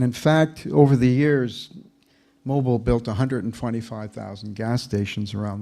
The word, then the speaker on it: Mobil: And in fact, what's interesting is that the people would pronounce Mobil Oil like Mobile, Alabama. So the red O was really to put the inflection on O, mobile, not mobile.